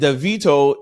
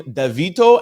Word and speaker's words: Davido: Side note, some people pronounce his name Davido, and some people pronounce his name David, depending on where you are or who you're speaking to.